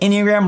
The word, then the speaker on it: Enneagram: So, long story short, Enneagram rhymes with pentagram.